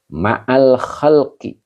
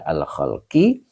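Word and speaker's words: الخلقِ: Kemudian ma'al khalqi. Kenapa dibaca alkhalqi? Karena kata setelah zarf mudof ilaih, maka dibaca maal khalqi.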